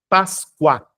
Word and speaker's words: Páscoa: Páscoa, cuá. Perceba que o som do U é semivocálico, ou seja, átono, muito próximo ao U.